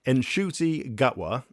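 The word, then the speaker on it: Ncuti Gatwa: He didn't know how to pronounce his own name, apparently. Nshuti Gatwa.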